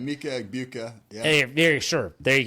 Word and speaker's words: Emeka Egbuka: Help me out with the pronunciation here, Coach. You talked with him, I think. Emeka Egbuka, is that correct? Emeka Egbuka, yeah.